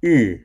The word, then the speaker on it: 日: The left side of Ming represents the sun. 日. And we can use the first syllable of rising sun to help remember the pronunciation of 日, which means sun.